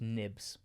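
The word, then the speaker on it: Knibbs: the goals scored by a hard k and a silent k Kemp and nibs no way I thought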